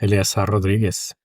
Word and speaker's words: Eleazar Rodriguez: For starters, am I pronouncing it correctly? Is it Eleazar Rodriguez? Yes, Eleazar Rodriguez.